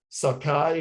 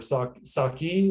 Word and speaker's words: sake: before that, the 60s, there's pronunciation guides in their own articles that say, in America, sake, also known as sakai or saki, like it's shown that this is the way this is pronounced in America.